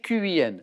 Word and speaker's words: Qin: Ça s'écrit Q-I-N. Ça se prononce plutôt Qin d'ailleurs.